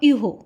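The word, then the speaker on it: euro: यूरो, currency, currency of France is यूरो, जिसका pronunciation French में होगा यूहो।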